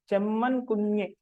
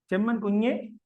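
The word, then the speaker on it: Chembankunju: Chemman Kunju. After u, it is nasalized. After the letter u, it is it is nasalized.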